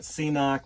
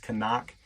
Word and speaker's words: CNOC: I also will use from the Knock Outdoors, some people call it CNOC, but it's pronounced Canuck, and the Sawyer Squeeze.